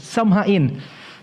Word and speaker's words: Samhain: Ang history sa Halloween originated under the title of Samhain. So the word Samhain pronounced as Samhain.